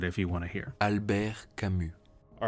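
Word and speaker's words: Albert Camus: he's French now going forward even though it's spelled like this Albert cus his name is actually pronounced alar CMU yes it sounds like albear CMU here's Wikipedia actually pronouncing it if you want to hear Alber kamu all right now back to the original video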